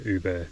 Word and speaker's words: Ubirr: Says pronounced Ubirr, right?